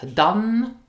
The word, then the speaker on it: dann: Now did you hear that I pronounced the word dann, da? Why? Well, dann is a word ending in n, so it is subject to the n rule. So you will often hear da instead of dann.